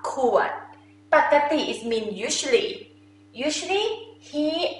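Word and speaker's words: ปกติ: Or sometimes Thai people, they pronounce pokkati. Okay, two of this also correct, same meaning. Pakkati, you think about spaghetti. I feel like this sound is like spaghetti.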